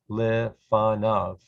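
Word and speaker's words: לפניו: If there is a yud between the a vowel and the vav near the end of a word, it is silent.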